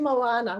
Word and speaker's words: Moana: And it's actually Moana, which is like rhymes with banana.